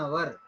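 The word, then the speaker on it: hour: ఇక్కడ I have been waiting for అన్ అవర్ అంటే నేను 1 గంట నుండి ఎదురు చూస్తున్నాను. 1 అవర్. Okay, and H silent కాబట్టి అన్ అవర్ వచ్చింది.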